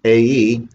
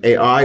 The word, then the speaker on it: Ai: is um chapter 8 the israelites will defeat ae i know it's easy to say that i like a.i but i believe the correct pronunciation is a e so i begin with verse 1.